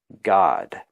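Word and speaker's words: Gad: to us who read English but it's actually pronounced God and Zilpah Leah's maid bore Yaakov a second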